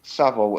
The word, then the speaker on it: Savile: Oh, Savile. It's Jimmy. S-A. Yeah, Jimmy Fix It. Savile. Yeah. Savile, Yeah, not S-A-L. Savile. No, S-A-L. V-I-L-E. SAVILE. Oh yeah. Oh, yeah, Sav. I thought it was Savile.